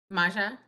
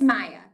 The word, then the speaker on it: Maja: Maja, am I pronouncing your name correctly? It's Maya. Maya.